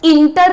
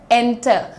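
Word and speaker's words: enter: यानी प्रवेश करना और इंटर नहीं है ये ये क्या है एंटर एंटर okay moving on become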